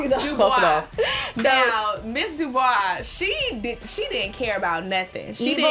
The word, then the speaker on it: DuBois: Mrs. Dubrow. Did I say her name right? No, Diana Dubois. Dubois.